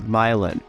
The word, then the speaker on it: Milan: the city of Milan it looks like it's spelled Milan but it's actually pronounced myelin when you move here